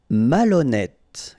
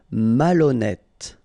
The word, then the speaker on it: malhonnête: Malhonnête. Okay, remember H doesn't exist, so malhonnête. Don't insist on the final E. Malhonnête. And here you get E accent circonflexe, so you pronounce it like E.